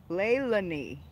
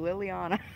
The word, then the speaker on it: Leilani: I have been saying your name wrong for years, girl. Leilani. Leilani. I always called you Liliana.